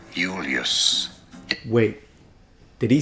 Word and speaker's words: Julius: first name Julius yes in Latin that Jay is pronounced like an I so he says Julius and it's eulus with the long u and and again us at the end but what about it's